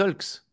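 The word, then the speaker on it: aulx: Et par contre, un ail des Hulks. Exact. Ail au pluriel, c'est Hulks. Et une boisson des haltères. Oui, mais on prononce des os.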